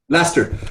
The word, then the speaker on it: Leicester: Is that how you pronounce it? Leicester.